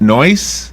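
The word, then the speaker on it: noice: it's noi siiii pronounced noise which means very nice or extremely good boy she's not yes that's noise that's almost like a British pronunciation is right yes it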